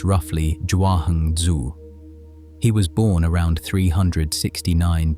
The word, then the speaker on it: Zhuangzi: His name, the way we spell it now in English, is Jangzi, pronounced roughly Jahung Zu.